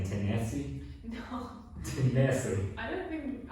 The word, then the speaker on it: Tennessee: Maybe the stress goes like at the end of the word Tennessee. Yeah. So that's why. I don't know. It just sounds. What are you guys saying? Tennessee?